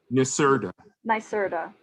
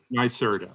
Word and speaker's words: NYSERDA: do you say it do you say naserta nyserda nyserda okay corinne uh joined nyserda